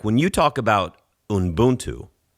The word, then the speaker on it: Ubuntu: Like when you talk about Ubuntu, right?